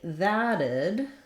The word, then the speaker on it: that'd: And then finally, thaddid is a little bit like iddid, where we have the same combination of a flap, which I've rewritten as two Ds, and the id sound.